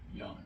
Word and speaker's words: Jan: pronounce it? Jan.